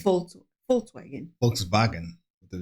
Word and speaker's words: Volkswagen: the word Welt, and they pronounce the V's with an F sound, like in the word Vermögen, Zuordnung, Zuständigkeit zu betrachten. Yeah, like Volkswagen. Like that's how they say Volkswagen. Oh, Volkswagen.